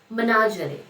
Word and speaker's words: menagerie: Menagerie, the pronunciation is menagerie.